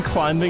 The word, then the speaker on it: climbing: The B in climbing is silent.